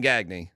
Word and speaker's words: Gagne: By the way, you do say his name Gagne. I know it's definitely Gagne. I like Greg Gagne. Gagne and Lacey. Dude, I'm there for 2 hours here in Gagne. I'm like, you got me. It's Gagne.